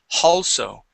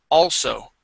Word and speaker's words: also: Here you had said halso, adding an H there. Okay, so we don't want to add an H. We want to remove the H and say all, also.